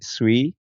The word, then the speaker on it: Tsui: here we have today s is that how I pronounce it that is how you pronounce it I'm glad I got